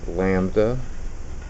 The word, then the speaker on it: lambda: That is a Greek symbol that's pronounced lambda.